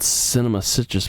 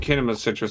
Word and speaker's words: Kinema Citrus: Why is it called Cinema Citrus, but it's called Kinema? It's spelled out Kinema Citrus. Oh, it's called Kinema Citrus.